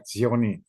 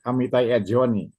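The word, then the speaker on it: Etzioni: penganutnya antara lain tokohnya ya yang bernama Amitizai Zioni. Nah, ini ahli sosiologi nih. Amitizioni. Amiti. Menulisnya Amiti. Biasa saja. Amit @ Zioni. Zioni. E T Z I O N I. Amit zoni ya.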